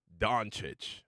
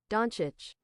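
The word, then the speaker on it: Dončić: Doncic. Okay. Doncic.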